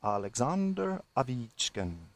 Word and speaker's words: Alexander Ovechkin: Alexander Ovechkin, pronounced in Russian Alexander Ovechkin, may not have gotten enough credit for his 2 goals tonight.